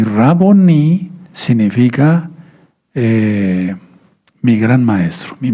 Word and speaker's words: Raboní: No Raboni, sino Raboní, con acento en la I, porque todo lo que termina así en hebreo se acentúa al final, como palabra aguda, ¿sí?